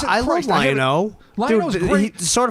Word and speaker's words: Lion-O: But you want for Lino? I said it wrong. How dare you? It's What's wrong with Panthro. Lion? you No, know, Jesus I love Christ, I haven't- Lion-O.